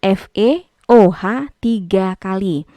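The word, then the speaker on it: Fe(OH)₃: Ini cara membacanya kalau ada kurung kayak gini, bacanya FeOH 3 kali.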